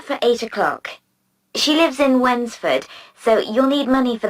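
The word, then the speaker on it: Wednesford: She lives in Wensford, so you'll need money for the bus fare. Wensford, that's funny. It's like when's the food? No, it's spelled w e d n e s f o r d.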